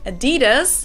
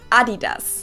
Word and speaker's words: Adidas: it adidas yeah and in germany we say adidas adidas adidas adidas so it's crazy we pronounce adidas like the like the first i is a e right so it's like a e an e noise right and then the